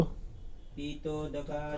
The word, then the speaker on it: पीतोदका: स्वामी जी, पहला जो शब्द है ना, पहले शब्द का उच्चारण करो। पीतोदका। हाँ, पी दीर्घ है।